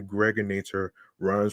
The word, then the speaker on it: Gregator: aka the Gregators with Now or Later. Some of y'all may know me as Greg. I am your host with the most. aka the gregator rhymes with narrator.